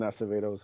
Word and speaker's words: Acevedo: Yeah, Preston Acevedo's insanely talented.